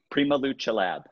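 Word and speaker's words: PrimaLuceLab: I'll let you pronounce it. Prima Luce Lab.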